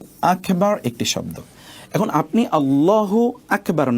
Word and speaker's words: আল্লাহু আকবার: এই যে এখানে দেখুন মূল উচ্চারণটা হবে আল্লাহু আকবার। আল্লাহু একটি শব্দ, আকবার একটি শব্দ। এখন আপনি আল্লাহু আকবার না বলে যদি আপনি